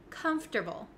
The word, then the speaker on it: comfortable: not really correct so even though it looks like come for table we don't say the o sound comforable we don't